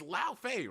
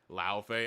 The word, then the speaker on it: Laufey: It's Laufey, right? Somebody in chat will tell me. Because I always get her, like, pronunciation wrong. Laufey. Laufey.